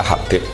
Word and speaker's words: Habib: Itu di harokatnya kitab itu ada yang nulis Hubab. Tapi yang benar, yang benar itu bacanya Habib.